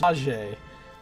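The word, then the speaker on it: Maje: It's pronounced Mahe. At least that's how the voice actors pronounced it.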